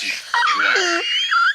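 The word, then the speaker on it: João: It's not wow. It's Joao.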